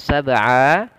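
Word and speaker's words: سبع: Sab'a, pada lafal sab'a ini ada huruf ba yang mantul. Ya, huruf ba yang dia berharakat sukun. Apabila kita mendapati ada huruf ba dia berharakat sukun pada tengah bacaan atau kita waqaf dengan huruf tersebut, maka ini merupakan hukum bacaannya namanya qalqalah.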